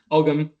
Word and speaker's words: Ogham: For example, long story short, but I tend to say Ogham because that's the modern Irish and modern Scottish Gaelic pronunciation. In the 8th, 9th century, you would have said Ogham.